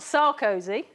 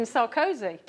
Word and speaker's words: Sarkozy: He's not Sarkozy or even Sarkozy. He is merci Sarkozy. Okay, so French, the stress is always at the end.